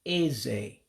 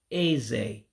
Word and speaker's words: eze: Now, teeth is another tonal one that you have to go down with your voice in order to say it right. So that second E goes down. So to say teeth, you would say eze, teeth, eze, teeth. So again, the E's sound like A's in English to help you out